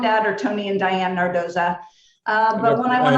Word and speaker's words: Nardozza: italian roots and so i changed the pronunciation to its correct italian pronunciation i love it so